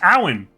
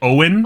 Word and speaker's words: Abhainn: and think, oh yeah, that's pronounced Alan. A-L-A-N. Is that correct? What's up? Alan is how you say it. Nope. A-L-A-N. It's like Owen, Fuck. but with an A. Owen. Yeah, correct response, Minty. Owen with an A?